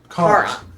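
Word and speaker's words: Charon: Karan. Okay. Sorry, I always want to go ch. It's Yeah. H is silent.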